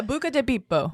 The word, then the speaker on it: Buca di Beppo: That is not how you say it. It's Italian. Yeah, Buca di Beppo.